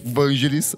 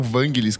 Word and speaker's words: Vangelis: odisseias papat siu é tipo assim perfeito ou Vangelis ou Vangelis como euv algumas pessoas pronunciando ele morreu em decorrência de covid Então